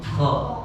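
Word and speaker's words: خ: Dengan sifat menaikkan pangkal lidah nggak mungkin bacanya kha. Maka menjadi kha, lebih bulat pengucapannya.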